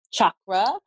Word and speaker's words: chakra: which I'm it's pronounced chakra it's an ancient Sanskrit word and because of the